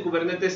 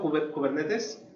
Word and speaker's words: Kubernetes: Entonces, a mí me gusta pronunciarlo Kubernetes, porque bueno, la palabra viene de griego. Una vez escuché cómo se pronunciaba, es muy parecido a español, Kubernetes, aunque los griegos lo pronuncian como Kubernetes.